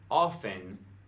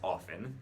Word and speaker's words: often: It's supposed to be often the T is completely silent. And I don't have too much of a problem with this word because I actually pronounce it as often, not often.